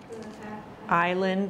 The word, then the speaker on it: island: out that's the tide island remember that s is silent then mm-hmm there's Island